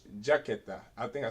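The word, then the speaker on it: chaqueta: I mean, it's jaqueta. I think I said. Did I say chiqueta? I may have said jaqueta. No, you said jaqueta. That's jacket in Spanish. You said jicata.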